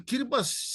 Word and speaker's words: Kiribati: Kiribati. I'll probably forget how to pronounce it after this show, and I'll be calling it again.